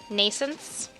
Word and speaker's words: Nascence: Nascence. There we go, that's better. This also sounds weird, though. With a silent T.